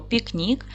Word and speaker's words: пікнік: запишемо ще раз слово пікнік поставте відео на паузу Та зробіть звуковий аналіз цього слова поділимо слово на склади пік Нік наголос падає на другий склад к М'який приголосний тому